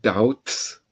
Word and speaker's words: doubts: When you have doubts, the B is silent.